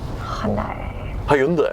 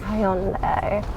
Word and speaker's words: Hyundai: Hyundai. Hyundai. Yeah, you say it with an extra syllable.